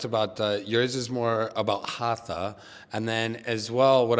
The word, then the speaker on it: Hatha: So first things we generally say the Hatha is not the word Hatha, it is the word Hat. So it's Hat Yoga, but to make the pronunciation clear or sometimes to make the pronunciation easier actually we say Hatha Yoga.